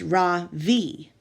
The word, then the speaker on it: Ravi: first name is Ravi it's pronounced Ravi with a soft raw and a strong v in Sanskrit it means the Sun in America people call me Ravi with the stress on the first syllable that doesn't mean anything